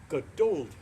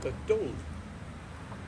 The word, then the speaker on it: Geduld: to have or show Geduld." And that is my German pronunciation. They want to show Geduld with what has been said.